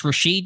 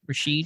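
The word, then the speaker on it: Rashed: think both guys have had their moments it's rasheed you said right rasheed yeah it's at least the pronunciation i've seen this hamilkar hamilkar rasheed okay i'm gonna i'm gonna probably say richette a lot so i apologize in advance but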